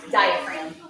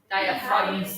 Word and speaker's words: diaphragm: Diaphragm. And it's got that silent G in it. Diaphragm.